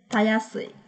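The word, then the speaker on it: 容易い: Tayasui. Tayasui, nhớ nhắc cách đọc nó đặc biệt một chút.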